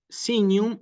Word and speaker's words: signum: corregir sí Eh entonces sinum y sancte llevan efectivamente su acento no obligatorio sí no es obligatorio Que aparezca en los textos en la letra i como les marco aquí y en la letra a sí Ese es el